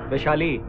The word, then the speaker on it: वैशाली: क्या नाम है उसका विशाली क्या विशाली अरे क्या रे तुम नॉर्थ इंडियस कै प्रोनाउंस करते हैं वैशाली वैशाली बोलो वैशाली वैशाली वैशाली हां उसको लेके